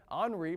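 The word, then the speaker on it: Henri: three different systems fred henry not henry it's henry it's a weird pronunciation from the hurricane center it's actually french and we also have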